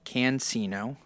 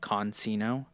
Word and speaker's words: Cancino: Next is Richard Cancino. I was saying, I think, Consino.